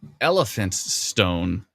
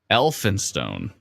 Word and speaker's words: Elphinstone: warning still in effect not elephant stone it's elphinstone that's right and i like an